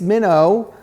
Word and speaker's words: Minnaugh: book and and grace minnow is spelled mino is spelled m-i-n-n-a-u-g-h but it also there's another type of minnow too right there's a fish minnow yes it's a minnow which